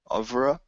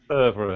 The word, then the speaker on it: oeuvre: Um, but yeah, so for me, I guess this is my I'm gonna try to pronounce this word correctly. Over, over, overa. Do you Mm. know this? Ovre? Yeah, Oeuvre.